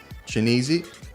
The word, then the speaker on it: Chianese: And I did pronounce that correctly. Yes, you did. Woo! All right. So to answer Rokini's question, it's Chianese and Shakowski.